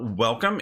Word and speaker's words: Wacom: the word Wacom and how it's pronounced spoilers it's pronounced welcome then we're gonna do